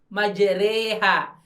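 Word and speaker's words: مجريها: Tapi jadi bacanya bukan bismillahirrahmanirrahim, bukan bismillahirrahmanirrahim, tapi majreha. Re-nya itu kayak ngomong remote, republik gitu ya, revolusi, bukan re, ya bukan re, tapi bukan bismillahirrahmanirrahim, tapi majreha, ya.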